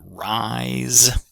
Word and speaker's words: rise: So, our um my I diphthong gives me the word rise. Another example of an S spelling that has a z sound.